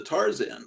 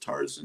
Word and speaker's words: Tarzan: movie okay here's the Tarzan book you know you can pronounce it Tarzan you can pronounce it tarzen you can pronounce it either way just so you know